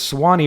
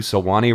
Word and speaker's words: Swanee: It's Swanee River, which I remember specifically because I'm a Florida native. That is Right. our state song. It is spelled Swanee. He leaves a whole syllable out of this.